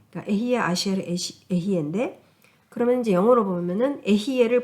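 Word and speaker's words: אהיה אשר אהיה: 발음이 맞는지 네, 맞아요. 모르겠네. 네. 그러니까 에히에 아시엘 에히에인데 그러면 이제 영어로 보면은 에히에를 보통 그러니까 에히에가 비동사잖아요.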